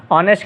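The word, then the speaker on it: honest: एश, ऑनेस्ट का भी एच है और एयर का भी एच है। तो ये जो कॉन्सोनेंट एच लगा हुआ है इज़ नॉट प्रोनाउंस, इनको हम उच्चार में नहीं लेके आते, उच्चारते नहीं हैं इनको, हम इनको प्रोनाउंस नहीं करते, ये साइलेंट कहते हैं,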